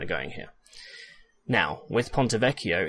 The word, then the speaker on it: Ponte Vecchio: where it's kind of going here now with ponte vecchio it's a little bit different ponte vecchio means